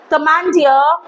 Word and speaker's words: commandeer: The first set of words that we are going through is the words ending with E-E-R. And the E-E-R is pronounced as ear. Okay, so auctioneer. Auctioneer. Domineer. Commandeer.